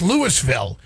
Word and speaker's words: Louisville: Savannah, well, you know what's so funny about that is that's Lewisville is how we pronounce it here.